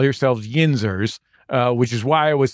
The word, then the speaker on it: Yinzers: I remember that going really well, and I didn't hear you mispronounce it, but we did get a letter from a Yinzer saying he said Ginzer or Ginzer, and maybe you were speaking about Pittsburghians who only drink gin.